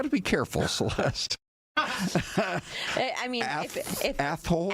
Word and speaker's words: Athol: If Athol. Athol.